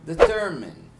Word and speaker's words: determine: Agora, a palavra determine. Determine. Mudou a sílaba tônica, ela foi pro ter.